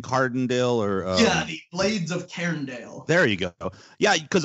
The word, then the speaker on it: Cairndale: it how you say it again blades of cairndale and that's c-a-i-r-n-d very cool um sort of